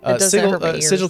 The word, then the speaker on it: sigil: right way but no if they wanted it to be called sigle they could have made it s i g g i we never going to